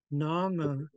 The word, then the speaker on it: nanga: Nanga, oh yeah, we have to do this one because the G is silent. I still have to spell it though. Nanga.